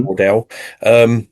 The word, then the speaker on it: Waddell: Um, so Commander James Waddell, is that how you pronounce that? Yeah. hmm Waddell.